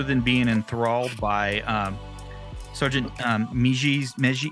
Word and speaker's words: Meiji: So real quick note on the pronunciation, because Nick was asking. Meiji, Meiji, right?